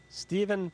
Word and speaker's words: Stephen: for me I want to make sure I pronounce it properly itly stepen step welcome to welcome to gbhs